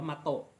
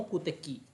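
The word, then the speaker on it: 目的: อ่า แต่ ที นี้ ถ้า เป็น คำ ว่า เป้า หมาย เนี่ย เสียง มัน จะ ไม่ ได้ อ่าน ว่า มาโตะ มัน จะ อ่าน ว่า มกุเตกิ แต่ ใช้ คันจิ เหมือน กัน นะ ทุก คน น่า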